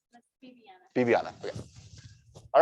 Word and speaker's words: Viviana: And that's spelled with a B, but is it pronounced with a V? That's Viviana.